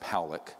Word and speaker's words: Pollock: This man, William Pollock, his name is pronounced Powlick, was a man, very good man, who gave me an interview only to be released posthumously after he died.